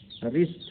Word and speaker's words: wrist: रिस्ट, रिस्ट W देखिए RIST, W आगे लगा दिया, WRIST रिस्ट है। कलाई, यहाँ W साइलेंट।